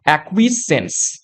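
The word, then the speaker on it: acquiescence: উচ্চারণটা কি হবে? দেখো এক। ঠিক আছে? তারপর হবে কুইস। তারা হবে সেন্স। এটা হবে একচুয়াল উচ্চারণ। একুইসেন্স যার অর্থ কি?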